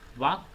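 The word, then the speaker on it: walk: Wrong, W silent है, night H silent है, high G silent है, डाउट B साइलेंट होगा, कुड L साइलेंट होगा, वाक L साइलेंट होगा।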